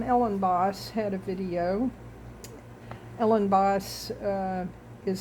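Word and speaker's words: Elenbaas: Ellen Boss, uh, is spelled E L E N B A S.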